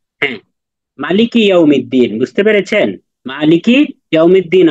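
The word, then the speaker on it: مالِكِ: কোরআন পড়তে পারেন বলেন মিম জবর মা লামের কাফ জের কি মালিকি হ্যাঁ মালিকি ইয়াওমিদ্দিন বুঝতে পেরেছেন মালিকি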